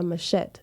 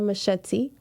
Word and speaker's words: machete: In Jamaica, we call it a machete, not a machete.